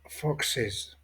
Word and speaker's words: foxes: Z, CH, SH et qui prennent ES au pluriel qui va se prononcer is. Renard fox, les renards foxes.